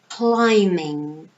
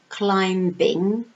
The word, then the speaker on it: climbing: picture here we have climbing climbing notice that in this word we have a silent letter so it's not climbing no the B sound is silent so it's climbing not